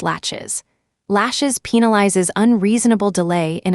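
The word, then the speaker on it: laches: Then there's the doctrine of lashes, pronounced latches.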